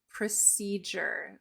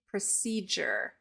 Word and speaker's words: procedure: the word procedure procedure the D and the U make a j sound procedure so it's not procedure it's procedure procedure when this blending